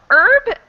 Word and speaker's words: herb: are debatable okay um herb i would say is more commonly pronounced without the h sound often i think is